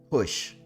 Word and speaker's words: Goes: Hush is how you pronounce his name. Norberto Hush.